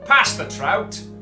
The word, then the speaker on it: Passepartout: George is that I mean it's pronounced past the trout love you guys all